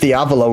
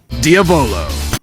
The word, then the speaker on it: Diavolo: Fun fact, they also pronounced Diavolo wrong. Diavolo.